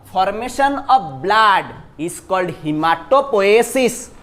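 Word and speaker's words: haematopoiesis: और formation of blood is called हिमाटोपोएसिस। Pronounce my dear, क्या बोलेंगे? Formation of blood is called what? हिमाटोपोएसिस, HAEM, हिमाटोपोएसिस, ठीक है।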